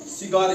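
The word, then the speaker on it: cigar: आर सिगार क्या पढ़ा सिगार इसकी साउंड निकलती है इसको हम प्रोनाउंस करते हैं सी को य सी की आवाज निकालते है एस की आवाज निकालते है सिगार इसको हमने की गार नहीं पढ़ा ठीक है अब अगर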